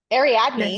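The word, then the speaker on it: Ariadne: was always pronouncing correctly AR add me yes yes it is how do you it kind of roll your R okay okay so interesting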